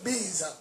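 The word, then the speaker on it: BYS: Si vous avez le net à la maison, la connexion, vous vous connectez sur Prophète Biz. Prophète Biz. Biz s'écrit B-Y-S.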